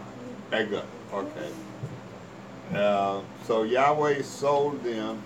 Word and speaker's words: Eglon: He's the one that killed, what's how you pronounce his name? Eglon.